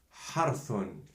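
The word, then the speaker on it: حرث: And then tha with two Dammat is pronounced thun. For example, harthun, ha, r, thun, which means cultivating the land.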